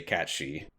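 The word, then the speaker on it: Cat Sìth: And Cat Sith is how you say cat she.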